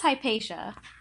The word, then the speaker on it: Hypatia: Yeah, I think it's Hypatia. I like Yeah, her Greek. yeah, the T is like a sh sound.